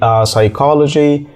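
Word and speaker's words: psychology: كاننا مش شايفينه يعني المقطع اللي هو بي اس واي ده مش بننطق في حرف البي خالص كلمات زي سايكولوجي سايكيترست اكيد سمعت كلمه سايكو فكل الكلمات ديتي مش بننطق حرف البي فيها حرف البي واه مش موجود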